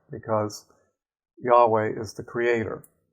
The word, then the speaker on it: Yahweh: Yahweh. Now I place an accent on the last syllable.